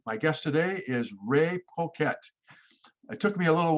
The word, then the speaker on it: Poquette: I'm told it's supposed to be pronounced Poquette.